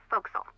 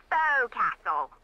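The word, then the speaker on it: forecastle: ship but it's pronounced foxel why is that try pronouncing it like an english sailor with no formal education faux castle foxel overtime it little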